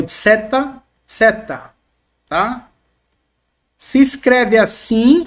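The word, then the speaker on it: ζῆτα: atenção, se escreve assim, mas o som dela, por mais que nós temos aqui transliterado no Z no português, o som não tem o som de Z, pelo menos aqui na gramática do Estelio-Rega. Ele vai trabalhar com o som de DS, DS, tá?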